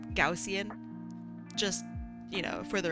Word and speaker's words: Gaussian: How How do you pronounce Gaussian? Gaussian. Yeah, it's not Guajin. Gaussian. Gaussian. Let's hear it slow. Gausian.